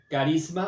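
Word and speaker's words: charisma: frase dones espirituales carisma así como como suena carisma aunque se escribe con ch al principio con una única excepción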